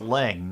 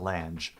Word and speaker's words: Lang: Oh, it's pronounced Lang, not Lange.